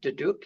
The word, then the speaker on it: duduk: He has played drums in various bands over the years, and more recently, he's taken up learning to play the duduk.